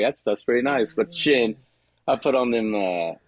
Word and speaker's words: Chene: Their rubbers are usually heavier, but you uh those sheen boots with the zippers. Hold on now. Say it right. Oh, yeah. The shin boots with the I can always I always mess it up.